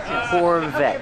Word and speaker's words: Corvette: the car's grandchild this Corvette's from the 70s and let's talk about pronunciation Corvette the t is a stop T the E is silent Corvette Corvette pronounce a V with voice Corvette this is a nice